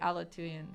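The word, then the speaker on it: Aleutian: that's also like it's it's written as Hawaii alatoon for the time zone yeah I guess that's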